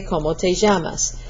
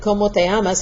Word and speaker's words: ¿Cómo te llamas?: Be careful when you're doing that, because ¿Cómo te llamas? Means what do you call yourself, but if you make that where you don't pronounce that just strong enough, it may sound like ¿Cómo te amas?